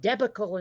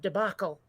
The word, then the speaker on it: debacle: of them recently when you said debical instead of debacle oh okay okay yeah